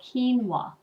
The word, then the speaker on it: quinoa: and there it is now how would you pronounce that quinoa actually it's called quinoa and this is an um a grain and